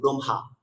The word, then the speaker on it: ব্রহ্মা: দেখুন আমি লিখেছি যে বিশেষ দ্রষ্টব্য দিয়ে লিখেছি, যদি নাসিক্য ব্যঞ্জনের সাথে হ ব্যঞ্জনটি যুক্ত হবে, যখন নাসিক্য ব্যঞ্জনের সাথে হ ব্যঞ্জন যুক্ত হবে, তখন হ এর উচ্চারণ নাসিক্য ব্যঞ্জনের পরে করতে হবে। জন্য ম সাথে হ যুক্ত হয়েছে, আমরা মকে আগে রেখে হটাকে পরে করব, ব্রহ্মা।